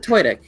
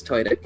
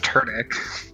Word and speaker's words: Tudyk: I pronounce it Tudyk. I've heard him say his name, so it's Tudyk. Oh, okay. Oh. Oh, I always thought it was Turdic.